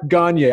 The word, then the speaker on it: Gonyea: the studio with a virtual studio here Gagne I said your last name right correct gone